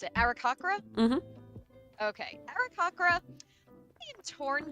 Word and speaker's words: Aarakocra: How do you pronounce it? Aarakocra?